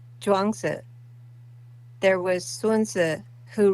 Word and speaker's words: Zhuangzi: But I would love to train with uh, Chuang Tzu. Not sure I'm familiar with that name. Mm-hmm. Hang on, I'll have my wife say it properly. Zhuangzi. It's Zhuangzi.